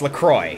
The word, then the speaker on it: LaCroix: It's LaCroix. Yeah. Right? But I swear it's pronounced La Croix because, you know, French, but I could be wrong.